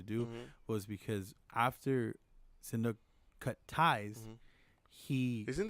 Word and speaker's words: Sihanouk: I'm like, you mean I'm- Shinnok? correct me if I'm wrong. And Not he- Shinnok from Mortal Kombat. See- Wait, Sihanouk.